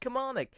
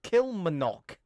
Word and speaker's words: Kilmarnock: It's pronounced Kilmarnock. But Tails and Victor Tanzig both mispronounced it. They pronounced it Kilmarnock.